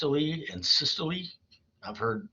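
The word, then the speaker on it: systole: through the body now I've heard these words pronounced wrong um it's actually diast and syy I've heard dasto and CYO I've even heard doctors say that before but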